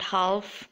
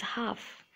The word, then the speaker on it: half: It's not chalk, it's yolk, chalk, balm, walk, half, it's not half, it's half, and calm.